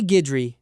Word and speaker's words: Guidry: Ray Guidry, very Louisiana name, pronounced g i d r y, ran a shrimp boat out of Plaquemines Parish.